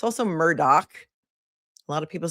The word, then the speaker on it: Murdaugh: It's also Murdoch. A lot of people say Murdo, but it's Murdoch.